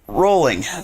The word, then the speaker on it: Rowling: Yeah, she gets uh I actually looked into her a little bit after after JK R uh rolling, sorry, pronounced like bowling, not growling.